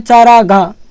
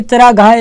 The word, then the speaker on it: चरागाह: उच्चारण में ऐसे बोलते हैं चारागा जो कि आपका गलत होता है। यह चरागाह होता है। ठीक है? यह शब्द है गलत होता है जबकि यह आपका सही होता है।